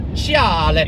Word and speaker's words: Speciale: Like, Speciale. Yeah, he loves Ferraris. So. That is how it's pronounced, though.